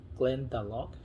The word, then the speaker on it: Glendalough: Many people say Irish are the first ones that they started with making whiskeys, and Glendalough, that's how you say it.